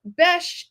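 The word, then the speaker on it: Besh: yay Mike yeah so Bes is how you say be in arabes okay and there is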